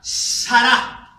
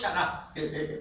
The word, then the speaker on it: Sará: La palabra para angustia es la palabra Sará. No es Shará. Shará es gobernación, es día de preparación. Angustia se escribe así: Sará. Con la T. Es Sará.